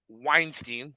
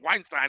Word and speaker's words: Weinstein: I'm like, "Hell no, my last name's Weinstein. It ain't Weinstein. We pronounce that shit different.